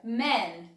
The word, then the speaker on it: man: Lembrando, dica de pronúncia. Man. Dá um sorrisinho quando você for falar man no singular. Homem. Quando você for falar no plural, fala um pouco mais sério.